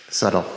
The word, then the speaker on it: subtle: Subtle. Subtle, I don't know how to pronounce Subtle. it. It's spelled subtle, but we say subtle.